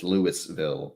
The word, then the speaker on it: Louisville: yes they probably will so louisville louisville even though it's lewisville but hey what do